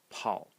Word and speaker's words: 跑: going to talk about a character which is pronounced Paul Paul in the third tone and it means